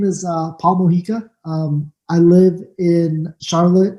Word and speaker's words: Mojica: end okay so uh your name is Paul moika your full name yes correct yes do I pronounce correctly that's correct yes sir so uh